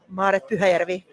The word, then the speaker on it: Maaret: Uh with us is uh Marit. I hope I'm pronouncing it well. I won't try your last name because I know I'm going to mess it up. How do you say your name right? Marvi.